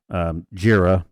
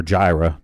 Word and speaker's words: Jira: Atlassian, which is the folks that bring us Jira or Jira, depending on how you pronounce that, as a joke.